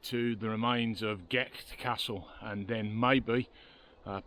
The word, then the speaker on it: Gight: n this is G Castle well actually it's GE Castle that's how it's pronounced around here and it was